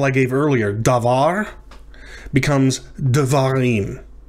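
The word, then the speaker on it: דְּבָרִים: Davar becomes devarim, right? So there's a shava under the daled there at the beginning. Devarim, not davarim, but devarim.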